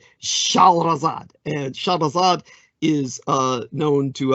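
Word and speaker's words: شهرزاد: For instance, basically her name in Arabic is Shahrazad. Shahrazad, and Shahrazad is known to us, of course, as Scheherazade.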